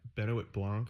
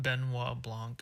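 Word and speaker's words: Benoit Blanc: Now, our detective, I don't even know how to pronounce I think yeah, Benit Blancc or something. Benoa Blancc. Benois Blancc. He comes in, has to solve the case.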